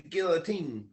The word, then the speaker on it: guillotine: my pillow underneath the guillotine yeah exactly and that word is pronounced Guillotine by the way just so you know Guillotine like it's French for chopping off your head yeah a guillotine um